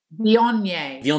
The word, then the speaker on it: Viognier: Viognier.